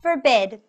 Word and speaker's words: forbid: their advice as reference forbid forbid for bid for bid can you see that the stress of the word is on the second syllable let's say it together